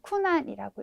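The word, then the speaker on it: 苦難: 우리가 고잖아요. 그러니까 일본어에서도 꼭 코나 뭐 코, 장음 이렇게 될 것 같지만 일본어에서는 쿠, 네, 그래서 쿠난이라고 읽어주셔야 됩니다.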